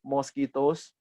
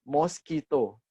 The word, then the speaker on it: mosquito: example mango-mango ya moskito mosquitos Nah ini moskito sering saya mendengar orang bilang ini bacanya Mosquito ya bukan moskito Ihya moskito zero zero